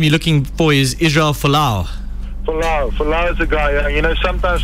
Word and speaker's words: Folau: Toks, I think the name you're looking for is Israel Folau. Folau is a guy. Sometimes for Afrikaans guys to pronounce a surname like that can be difficult.